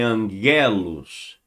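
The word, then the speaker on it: ἄγγελος: A terminologia de anjos no grego vem de angelos. Tem lá um acento ango ou angelos, angelos. Mas a pronúncia é angelos.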